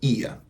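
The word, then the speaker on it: ihr: no se olviden que se pronuncia ia como en el viejo McDonald's tenía una granja ia ia u creo que as era la canción bueno Y si hablo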